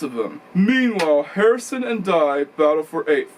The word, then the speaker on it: Dye: Meanwhile, Harrison and Dye battle for 8th. That's Daniel Dye, by the way. It's spelled like D-Y-E, okay?